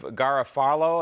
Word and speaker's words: Garofalo: Do you, a representative by the name of Garofalo, am I pronouncing his name correctly?